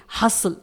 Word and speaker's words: hustle: इसी तरह से एक और वर्ड है हसल HUSTLE, यहां पर भी देखिए लास्ट में LE आया हुआ है, इसलिए हम यहां पर T को साइलेंट रखेंगे, इसे हम पढ़ेंगे हसल।